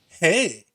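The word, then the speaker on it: Hej: Hey, that's okay. So it's pronounced hey, but it's spelled H-E-J.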